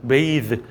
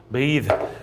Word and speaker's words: bathe: bathe. the 발음이 나요. bathe.